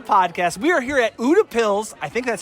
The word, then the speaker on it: Utepils: We are here at UDAPs. I think that's how you're pronouncing it. UDAPs.